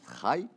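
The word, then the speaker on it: חַי: Quand on écrit chai avec un patach, donc ça se prononce chai, ou qui nouille la bina, ça c'est attribué à bina.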